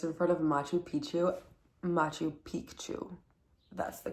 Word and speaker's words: Machu Picchu: Machu Picchu. That's the correct pronunciation.